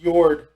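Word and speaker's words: Jörd: for it was the Nordic word for it, Jord, which I'm probably mispronouncing it terribly. Yeah. It's like J-O with the umlaut and R-D. Yeah. Which It's pronounced was their like word for Jord. Earth. It's pronounced Jord.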